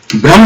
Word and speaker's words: ब्रह्मो: ब्रह्मो, ये बंगाली प्रोनाउंसिएशन है, ब्रह्म ब्रह्मो, रसगुल्ला रसगुल्ला, दही दही। तो ओ वाला थोड़ा सा प्रोनाउंसिएशन, वो एक्सेंट ज्यादा आता है, तो ये स्पेलिंग इसी सेंस में लिखा गया।